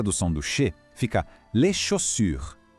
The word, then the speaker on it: chaussures: Fica les chaussures. O finalzinho é um pouco desafiador, com aquele U de biquinho de novo.